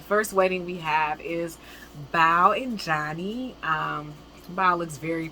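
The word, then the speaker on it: Bao: had a similar name, but they pronounced it Bo. So when I saw the spelling, in my mind is Bo, but she pronounces her Bow.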